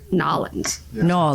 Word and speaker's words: New Orleans: Houston Street yeah well then how do you say New Orleans New Orleans New Orleans New Orleans New Orleans how do you say it like in conversation New Orleans New Orleans but if you live there it's like nollins we're almost to Texas